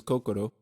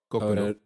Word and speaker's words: Kokoro: Japanese, but the name of the book is Kokoro. Kokoro. And it's the they got nothing to do with that la la. I have no clue what you're talking about. Okay. How you say your R's? Kokoro.